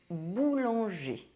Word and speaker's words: boulanger: There are two cases where the R is not pronounced.